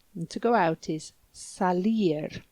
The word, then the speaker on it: salir: And to go out is salir, like sally forth.